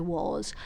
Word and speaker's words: was: and then ask yourself how you describe the letter O in once phonetically, because it's pronounced as a W, and the letter A in was is pronounced as an O kind of sound.